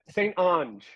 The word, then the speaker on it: Saint Ange: you you were 98 Saint Ange so it rhymes with orange but I have gotten